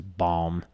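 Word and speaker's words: balm: his music as his bomb is like the word bomb b-a-l-m you pronounce the l's and everything and it freaks me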